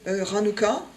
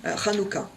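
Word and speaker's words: Hanukkah: octobre ensuite vous avez ranuka ranuka les haches souvent souligné se prononce comme la Rota espagnole Rota ranuka ranuka c'est la fête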